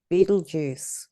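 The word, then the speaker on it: Betelgeuse: that's Beetlejuice uh I love the way that's spelled because it it it doesn't look like Beetlejuice octerius speaker and um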